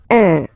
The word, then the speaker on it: un: without any doubt, but you've got to pronounce it like un. So it's what we call the nasal, so it goes in your nose, okay? So if you listen to me, you don't hear any N, okay?